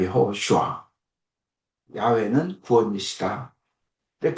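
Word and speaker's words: יהושע: 원래 발음은 여호슈아입니다. 여호슈아.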